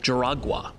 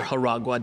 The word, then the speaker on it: Juragua: And I'm going to suggest that you come from an island called Jaragua, or Jaragua, depending on how you want to pronounce it.